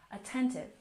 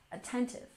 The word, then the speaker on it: attentive: Stress on the second syllable. Attentive. Attentive.